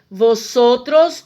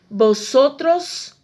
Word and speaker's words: vosotros: No espanhol, o V tem sempre som de B. Por isso que eu não vou dizer vosotros ou vosotras, e sim vosotros ou vosotras.